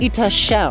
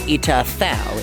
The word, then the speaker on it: Ita Thao: Anyways, we have touched down at Ita Shao district or possibly Ita Thao. It's pronounced both ways, it's spelled both ways.